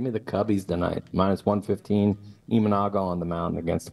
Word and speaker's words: Imanaga: But Gray against, say his name again, because you pronounce it a lot better than I would have. What is it? Imanaga.